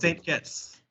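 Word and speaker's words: Saint Kitts: Caribbean in the island of kites kites of kits we pronounce St kits St kits the but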